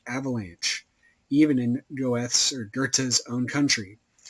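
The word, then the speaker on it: Goethe: even in Goths or gerta's own country I like goth because that's how it's spell but I'm pretty sure it's pronounced Gerta or something similar and it was no mere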